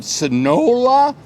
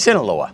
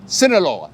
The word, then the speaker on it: Sinaloa: made him tourism Ambassador for the state of sonola how do you say that Sinaloa Sinaloa Sinaloa I've only lived here for three or